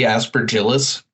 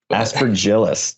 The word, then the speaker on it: Aspergillus: give it a shot aspergillus David how'd I do it's like a hard G aspergillus aspergillus dang it um you